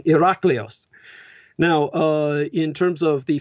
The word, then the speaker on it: Hercules: half human half divine like Eric Lee's which is the correct pronunciation for Hercules the original Ln agression actually being Iraq Leo's now in terms of